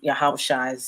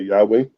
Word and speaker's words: Yahweh: I would say Yahweh or Yahweh.